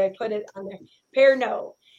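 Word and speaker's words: Pernod: eighth a teaspoon of per nod or no per no i think is how you pronounce it actually it's french so i'm assuming it's it's pear no actually i put it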